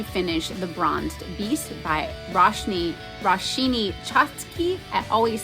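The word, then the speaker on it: Roshani Chokshi: I am also continuing to finish The Bronzed Beast by Roshini Chotsky. I always say her name wrong. Roshani Chotsky.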